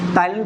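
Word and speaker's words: ptyalin: इसको पी से लिखते हैं, पी साइलेंट होता है, टाइलिन पढ़ते हैं, ठीक है।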